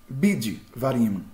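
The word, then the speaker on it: בִּדְבַר: bid var por quê Porque segundo a regra de separação de sílaba a sílaba tá fechada a vogal é breve o Shiva tem que ser mudo sílaba fechada vogal breve Shiva mudo então fica bid vá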